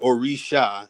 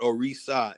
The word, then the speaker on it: Orisha: It's not Orisha, it's not Orisa, it's Orisha.